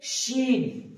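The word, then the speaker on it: ش: তারপর আসছে শিন, এটাতে কিন্তু ওই সিটিটা নেই, শিন, শিন।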